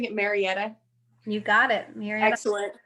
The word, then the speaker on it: Marietta: a career advisor with am is am i pronouncing it marietta you got it you're excellent yep so you